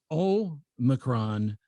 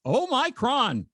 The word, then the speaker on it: omicron: Uh, so the emphasis is on the first syllable. So it's omccron, not oh my cron.